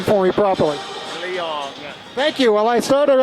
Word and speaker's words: Leong: you have to tell me, because I'm butchering your name here, please pronounce your last name for me properly. Leong.